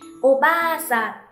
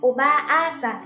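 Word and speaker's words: おばあさん: Thêm một ví dụ nữa, Oba-san là bà. A ở đây cũng là trường âm của ba, cho nên mình sẽ kéo dài ba ra thêm một nhịp. Oba-san, Oba-san, không đọc là Oba-a-san các bạn nha.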